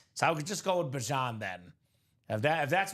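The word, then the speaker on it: Bijan: So he did say he wants to be pronounced Bjan Robinson. Well, I don't know if he said he wants to be pronounced, but he said that's the cor correct pronunciation. Bjan Robinson.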